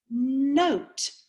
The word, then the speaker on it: note: here's my magic wand i'm gonna put my magic e on the end of my word now i cross it out because that means it is silent it is going to make that o say oh let's look what our